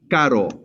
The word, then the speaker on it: caro: And what you want to do is lightly flap against the top of your mouth with a R sound. So it kind of sounds like this. Caro. Can you all say it? Caro. Caro. Caro. Caro. Yes, it's more like circle, like caro.